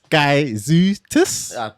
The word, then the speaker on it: Gaizutis: It's Gaizutis. Perfect. Alright, cool. Yeah, you redeem yourself. Redeem myself. Yeah, told you about this pronunciation.